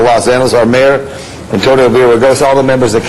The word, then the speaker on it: Villaraigosa: I want to thank Councilman Tom LaBonge, Council President Gil Garcetti, all the members of the City Council, and Mayor Antonio Villaraigosa. I think I pronounced that correctly.